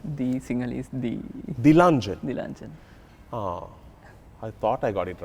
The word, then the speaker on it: Dilanjan: i think a lot of people get your name wrong it's actually the lunch the single is the the luncheon i thought i got it right the luncheon